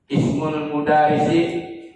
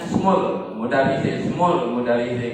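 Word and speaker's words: اسم المدرس: Ismul mudarrisi amidun. Nggak boleh bacanya smul mudarrisi nggak boleh. Harus ismul mudarrisi amidun.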